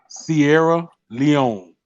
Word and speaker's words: Sierra Leone: Sierra Leone, C like the truck, C like the Sierra classic truck, oh Chevrolet, Sierra.